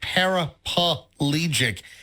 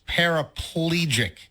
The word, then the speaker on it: paraplegic: to go grocery shopping it's not parapalegic it's paraplegic so here's the you're adding an extra syllable here's the problem you're